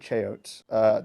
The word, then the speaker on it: Cheyote: It's I pronounce it Cheyote. I know that's not how the plant is pronounced. That's just I've chosen that pronunciation. Deal with it.